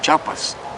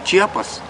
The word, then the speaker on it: Chiapas: Pues antes, incluso los funcionarios públicos, algunos funcionarios públicos ni siquiera sabían pronunciar correctamente el nombre de nuestro estado, pues decían Chiapas. Y ahí se dio a conocer y ahora ya todos dicen Chiapas.